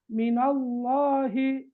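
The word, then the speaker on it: مِنَ اللّٰهِ: கஸ்ரா தானே பிஸ்மில்லாஹி மெல்லினமாக இந்த இடத்துல பத்ஹா வந்திருக்குது நாங்க லாம் ஓதுறது அல்ல மினல்லாஹி லாம் லாம் தான் ஆனா உச்சரிக்கிற அந்த விதத்துல வந்து அதாவது வல்லினம் இருக்க வேண்டும் மினல்லாஹி மினல்லாஹி அல்கலா குபுரா அல்கலாவுடைய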